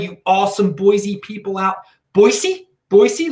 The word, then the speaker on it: Boise: awesome Boise people out Boise Boise look I'm pronouncing it correctly without my Baltimore accent you like that yeah